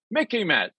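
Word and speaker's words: MICIMATT: Academia Think Tank complex Mickey Matt sort of rhymes with Mickey Mouse remember it okay why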